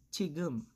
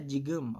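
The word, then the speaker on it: 지금: For example, we have chigum. Chigum. Hindi siya jigum. Okay? It's chigum. Mm-hmm. Kasi nasa first syllable yung character natin na ito.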